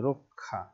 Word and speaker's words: রক্ষা: এর মতো হয়, আর শেষে বা মাঝখানে যদি হয় তাহলে ক আর খ, এটা হচ্ছে উচ্চারিত রূপ।